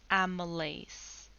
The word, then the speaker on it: amylase: this enzyme is called amylase it's spelled like a meal ace what this means is